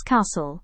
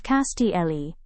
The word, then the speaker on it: castle: It is pronounced as castle instead of castle.